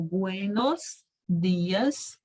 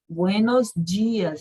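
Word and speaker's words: buenos días: digam comigo Buenos dias essa letra de na língua espanhola gente ela nunca pode ser pronunciada com esses caras por exemplo dia buenos dias não né sempre bom e nos dias o bebê com a língua na ponta né na conta da boca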